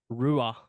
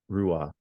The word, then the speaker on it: Ruadh: Just don't pronounce the D and you'll be fine, mate.